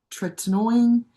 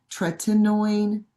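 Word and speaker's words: tretinoin: For skin care I use uh I think it's pronounced tininoine tininoine.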